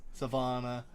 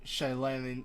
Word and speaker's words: Shalana: Everybody else currently is safe in Savannah. Or Shalana. I can't say its fucking name. Savannah? Shalana. Yeah. Oh, there's no V. I've been saying it wrong this whole time.